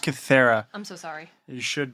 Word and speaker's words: Kythera: Joining me is my co-host and brother, hailing from Cytherea Island, DJ. It's pronounced Cythera.